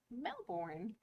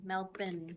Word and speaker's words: Melbourne: Melvin melin yes and it's because it's spelled Melbourne yes but because I don't have an Australian accent it sounds like Melbourne but they are like no no no it's Melbourne melbour Ben b n melbin same with Brisbane Brisbane